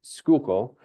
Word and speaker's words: Schuylkill: Earlier, he served as Chancellor at Penn State Schuylkill.